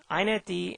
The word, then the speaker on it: inetd: iNetD and XiNetD is how this is pronounced, are super servers.